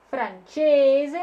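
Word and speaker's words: francese: Инглезе, франчезе. Напоминаю, что это буковка Ч. Перед буковкой Э она читается как Ч.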